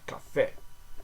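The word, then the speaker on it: café: okay A a okay in French each vowel in the words Cafe and is pronounced with a single pure sound so Cafe Cafe the r is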